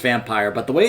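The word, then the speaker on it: Vampyr: rain now I recognized him from vampir or vampire apparently you're supposed to pronounce a vampire as the developers said it's supposed to be pronounced vampire but the way it's spelled I've just always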